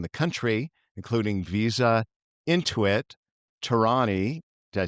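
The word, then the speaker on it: Torani: Her company works with some of the top consumer and technology brands in the country, including Visa, Intuit, Tarani.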